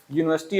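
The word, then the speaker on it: university: इसका प्रोनाउंसिएशन करना है जब आप प्रोनाउंसिएशन करेंगे तो आप देखेंगे कि पहला लेटर इसका यह आ रहा है यूनिवर्सिटी आप जब लिखेंगे तो पहले या लिखेंगे ना या एक कंसोनेंट है व्यंजन है तो इसके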